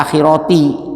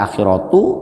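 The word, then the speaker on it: الآخرة: Makanya dibaca akhirati, tidak dibaca akhiratu, tidak dibaca akhirota. Fid dunya wal akhirati, ini jangan salah bacanya karena wafil akhirati maksudnya mempunyai kedudukan di dunia dan di akhirat.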